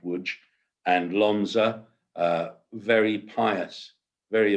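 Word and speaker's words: Łódź: The families themselves come from Lodge, well, it's spelt Lodge, but it's pronounced Wooge, and Lonza, very pious, very observant family members.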